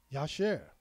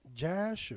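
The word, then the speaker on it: ישר: word upright come from the Hebrew word y'all sure a lot of people pronounce it as JA sure and there was a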